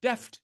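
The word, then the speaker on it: D2EFT: been calling d2f but I asked the investigators I said how do you pronounce this d2f and they said deft Deft everyone should know it's Deft did you know it was Deft no I didn't okay anyway I guess if you learn nothing else at this this webinar you learn that d2f is pronounced Deft uh the D2 stands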